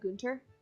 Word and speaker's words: Gunter: you'd expect Gunter sort of I I did pronounce a counter but Gunter GU nter and Bolton vol t o n